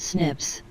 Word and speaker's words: SNPs: involving single nucleotide polymorphisms snps pronounced snips snps are single nucleotide